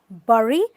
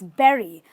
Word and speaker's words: bury: a very common word this word is not bury it's berry so think of strawberries how do you say you say i love strawberries so berry that's a berry right this word actually